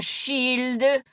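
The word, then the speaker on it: Child: miracle that she' appeared he pronounced her name as most French people did like shield and lont Melle Knight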